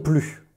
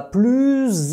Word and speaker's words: plus: Mais si tu dois faire la liaison, fais la liaison. Tu te rappelles, la liaison, c'est quand il y a une voyelle après. Il ne va plus à l'école. Là, on connecte.